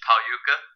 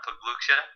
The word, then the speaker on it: Pauka: let you guys know it's pauka not pucha everyone get go through